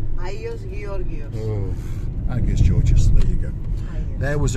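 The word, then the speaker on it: Άγιος Γεώργιος: Is that pronounced correctly? Agios Georgios. Oh, Agios Georgios, there you go.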